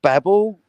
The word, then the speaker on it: Babel: The pronunciation website I found says both pronunciations are fine. Yeah, when we watched that website, when we watched Hitchhiker's Guide to the Galaxy, we were having this conversation as to whether or not it was Babel or Babel, and we did verify that both are accurate.